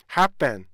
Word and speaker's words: happen: happen 이 소리인데 강세를 정확히 지켜서요, happen 이렇게 발음하시도록 하셔야 돼요.